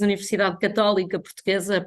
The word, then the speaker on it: Universidade Católica Portuguesa: We as Universidade Católica Portuguesa, pronounced in Portuguese, we feel very honored